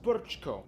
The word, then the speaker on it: Brčko: It's pronounced Brčko.